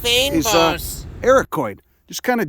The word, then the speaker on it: fynbos: The foliage, like most of the stuff here in this Mediterranean fynbos It's climate, pronounced fynbos.